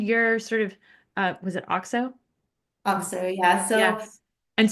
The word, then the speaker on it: Auxo: And where can people find your sort of, was it Auxo? Also, yeah, so Yes. And spell it for us because that's what I'm struggling.